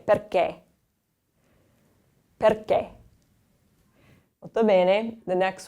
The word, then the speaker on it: perché: The next one, we have the accento acuto, the closed accent. So we want to close that E sound off a little bit more. So we say perché.